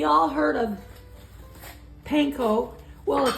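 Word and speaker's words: panko: y all heard of panco well ACC according to my brother it's called PCO PCO so yeah because that's how they say it in Japan this is a Japanese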